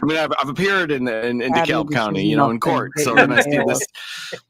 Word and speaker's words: DeKalb: also have a uh we also have a DeKalb County in in Illinois but we pronounce the L and the B it's I'm sure it's